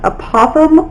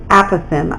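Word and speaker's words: apothem: The small a stands for, this is pronounced apothegm or apothegm.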